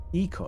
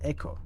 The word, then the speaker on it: ecosystem: a little infected ecosystem Eco not Echo I keep saying Echo because that's how how you say it's in my nature